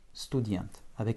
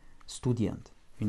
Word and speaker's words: студент: Student, avec un accent tonique sur la dernière syllabe. Donc le OU de stu ne sera pas atone, ne sera pas fortement prononcé, mais en tout cas la voyelle OU ne change pas hors accent.